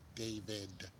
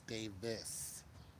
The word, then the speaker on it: Davis: I call him Anthony David, and it's Davis.